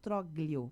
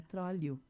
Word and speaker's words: Troglio: semana, ele disse, Beverly, a pronúncia do meu sobrenome não é assim, é Trolio.